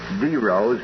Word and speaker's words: Deros: thing, Dominic, you told me that the correct pronunciation is Dros and I've noticed the last 20 minutes you've been saying Daryl.